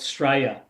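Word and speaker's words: Straya: that like your Independence Australia Australia Day no we we say Australia yeah we just call it sta s t r a y a there you go sta it's it's easier to pronounce is it is it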